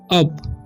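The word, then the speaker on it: up: ठीक है, तो इसे हम पढ़ते हैं अप। क्यों, क्योंकि यू का उच्चारण है यहाँ पर अ हो रहा है।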